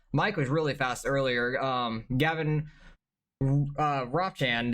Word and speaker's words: Gavin Ropchan: Gavin Ropchan, that's how you say his name. It's like Mop, but Rob.